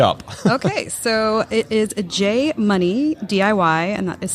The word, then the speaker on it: Jay Munee: Okay, so it is Jay Munee, DIY, and that is spelled JayMunee, It sounds ridiculous, but you know.